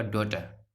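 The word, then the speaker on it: daughter: DAUGSTR, GH silent रहेगा, पीछे के वीडियो से हम बात कर रहे हैं, तो ये हो जाएगा आपका डॉटर, डॉटर।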